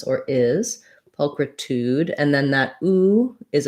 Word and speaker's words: pulchritude: who's asking okay so first syllable stress po we have a schwa um sounds like uh um so paul kr this letter i is the same kind of like in christmas or is pulchritude and then that ooh